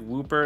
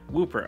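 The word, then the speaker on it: Wooper: pronounced it that way but it looks like whooper is the way it's pronounced and so yeah whooper all right let's just get into the battles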